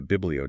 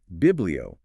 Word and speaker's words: Biblio: We've kind of nicknamed it the Biblio Diet. It rhymes with paleo. But the key difference is Biblio refers fundamentally to the book, these ancient texts.